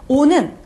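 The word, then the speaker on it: eau: 자, 오 하면 무슨 뜻이냐면요. 자, 발음 잠깐 복습할까요? 으, 아나. 아가 오면요. 오 발음 난다 그랬어요.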